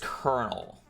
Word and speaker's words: colonel: I just can't pronounce it. Colonel. Oh, it is kernel.